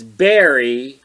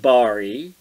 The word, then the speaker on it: Bari: for us uhoh uh pigweed was unsure how to pronounce Bari Weiss's first name yeah it's Barry not Bari and neither of you